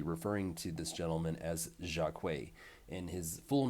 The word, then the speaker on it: Jacques: And I don't know how to pronounce this gentleman's uh, first name because it could either be Jacques or Jacquet.